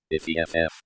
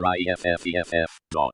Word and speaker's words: iff: In the HTML version it is coded using an invisible zero-space word joiner character, which should make screen readers pronounce if F as if EFF or IFFEFF.